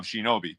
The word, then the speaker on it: Shinobi: we think that the proper the proper um pronunciation was the first one um Shinobi but yeah so and think effectively what they